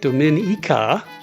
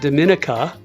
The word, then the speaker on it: Dominica: First thing first, the island is pronounced Dominica, not Dominica.